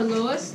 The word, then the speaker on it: Lowe's: Lowe's is how you say it, right?